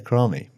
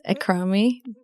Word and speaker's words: Akrami: Akrami, welcome. Thank you. Did I pronounce that right?